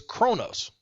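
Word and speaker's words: Qo'noS: first off the Kling on home world is Kronos it's actually spelled qo apostrophe n o capital S but it's pronounced Kronos oh like in Arabic yeah like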